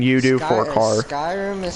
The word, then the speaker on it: Skyrim: Skyrim is spelled S-K-Y-R-I-M. Skyrim, literally as you said it. Sky and then a rim.